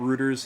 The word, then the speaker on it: Reuters: The only thing that's good about Reuters is it rhymes with Hooters, which is whimsical.